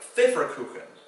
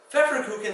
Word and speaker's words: Pfefferkuchen: Pfefferkuchen starts with a PF for the F sound, And then in the middle, the F sound is spelled with an FF. So two ways to spell that same phonetic pronunciation.